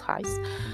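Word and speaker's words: εἷς: versions est en fait le mot Hais, H-E-I-S, prononcé Hais, voilà, on le prononce Hais, qui signifie un, comme le chiffre 1.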